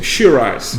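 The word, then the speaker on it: Shiraz: o australiano é que o australiano não consegue pronunciar uva acirrar e aí ele fez uma adaptação uma grafia e na pronúncia sheeraz mas o h no meio Imagino um gringo falando sirrar ele não tem essa dicção do francês e aí nós estamos diante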